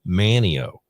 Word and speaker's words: Manteo: It's just, man, it's like, you and I live in Manteo. Yeah, not There's Manteo. there's no T.